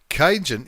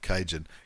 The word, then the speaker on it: Kainyn: Very, very good play by kainyn. Is that how you say it? I've got a feeling I'm pronouncing it incorrectly. Kainyn, not Cajun.